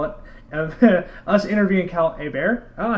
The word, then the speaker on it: Hebert: you can call it of us interviewing Cal a bear oh I said it right a bear you did y y I get the gold